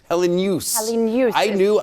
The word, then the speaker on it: Helenius: Helenius. I had a friend with the last name was Hellenius, but he goes by Helenius. We had to ask him, and that's exactly how he pronounced it.